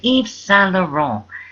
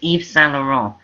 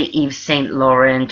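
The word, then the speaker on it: Yves Saint Laurent: anything like that it's eve s lauron you don't pronounce the tees and you don't say Saint or anything that sounds like it it's s e all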